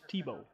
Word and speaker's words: Tybalt: Oh, I said it wrong. It's Tebow. Tebow.